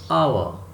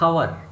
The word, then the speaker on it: hour: Dash hour. H-O-U-R. Hour. This is not hour. H is not being pronounced here. H is silent.